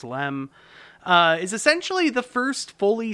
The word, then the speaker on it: LM: The Lunar Excursion Module, the LEM, sometimes just shorted to LM and still pronounced LEM, is essentially the first fully spacecraft we've ever built.